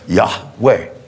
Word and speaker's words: Yahweh: pronounce his name and if you ever just pronounce it yeah way notice your tongue doesn't touch the roof of your mouth or the teeth or there's no obstruction that's just pure air yah way because he's Spirit he's